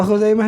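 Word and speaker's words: خزيمة: Siapa Khuzaimah ini? Bagaimana cara bacanya? Bidhammil kha'i, dengan dhammah khu kan, al-mu'jamah yang bertitik, wa fathiz zai, dan patah zai, Khuzai.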